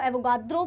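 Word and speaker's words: Avogadro: एोगाड्रो। वैसे एग्जैक्ट तो इसको एोगाड्रो प्रोनाउंस करेंगे। बट आप कुछ भी बोल सकते हो।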